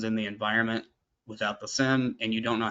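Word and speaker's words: SIEM: So you you use the phrase SIM. So that means security, information, and event management, right? It's sim. It's pronounced SIM, like a SIM card in a phone.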